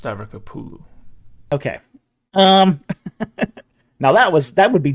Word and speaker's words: Stavrakopoulou: And also, it's pronounced Stavrokopoulou. Okay. Now that would be difficult to pronounce if you didn't know how to do it. Which you didn't. Stavrokopoulou is wow.